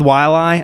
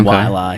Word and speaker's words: Waialae: Well, no, I tend to stick with Waialae. I think that's how you say it. Okay. Waialae. I like Waialae.